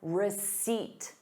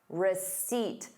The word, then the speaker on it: receipt: Please keep your receipt. Receipt. There is no P in the word.